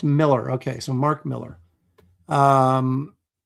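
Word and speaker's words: Millar: Moromi says he's clarified he's pronounced Miller.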